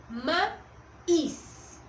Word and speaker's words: maíz: o pronunciar la palabra, escuchen, ma-is, ¿sí? Mi sílaba tónica es is y por ende es la que se escucha con más fuerza, ¿sí?